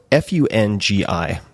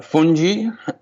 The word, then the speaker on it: fungi: Um fungi according to Oxford English dictionary with a j is the correct pronunciation but funi fungi or fungi.